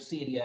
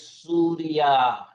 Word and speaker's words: Syria: don't like the word Syria actually the pronunciation is suria that is the Arabic name for the country and the colonizers change it to Syria because they could not pronounce suria so after my introduction